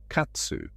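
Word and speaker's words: 喝: And in the Japanese pronunciation of the tradition, it became katsu.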